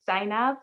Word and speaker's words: Zaynab: your name correctly i've heard like three different pronunciations uh so it's sign up shopping sign up yes all right okay sign